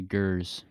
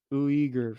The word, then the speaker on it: Uyghurs: Do you know how to pronounce that? We're gonna say Gers. Uyghurs.